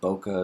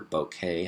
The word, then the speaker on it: bokeh: to play with using bokeh as one of my exposures or bouquet however you want to pronounce it these out-of-focus little balls